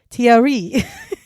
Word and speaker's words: Thierry: But I want to tell you it is pronounced Thierry. Oh, so I'm not going to pronounce Thierry. it. I am not going to pronounce it like that because I feel really silly. I'm going to pronounce it the way that the guy that I watched who taught me how to say this, who is French, said, if you're American, say it like this.